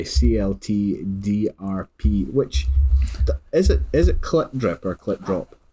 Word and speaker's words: CLT DRP: It's Clip Drip. So Drip. if you listen to their debut album Without the Eyes, the first track it explains that in the first couple of seconds. It says it's pronounced Clip Drip in like electronic sort of voice, I think.